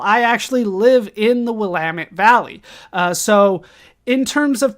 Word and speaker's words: Willamette: We also pronounce it the Willamette Valley. I don't make the rules. I know it doesn't look like that when you type it out, but it is Willamette.